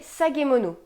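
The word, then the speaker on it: 提げ物: Ces objets suspendus étaient appelés sagemono. Alors là, encore une fois, je vais vérifier la prononciation.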